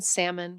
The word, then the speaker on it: salmon: The L in salmon, calm, palm, walk, talk.